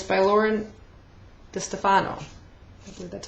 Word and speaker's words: DeStefano: uh chemical Garden Trilogy and it's by Lauren de Stefano that's how it's pronounced and um it's followed by fever and